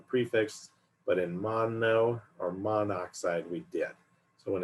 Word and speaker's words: monoxide: and you'll notice that here we just put mon oxide not mono oxide sometimes when it's pronounced you'll hear someone say mono oxide but generally carbon monoxide is what you hear